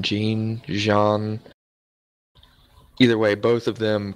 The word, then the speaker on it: Jean: It has to be a tie between Aaron and how do you pronounce his name? Jean.